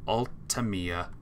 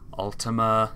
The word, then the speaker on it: Ultima: Imposter is set to altamiya that's not my name but yes I remember another streamer calling me that Ultima I was like that's not my name say it right Ultima you can't spell it's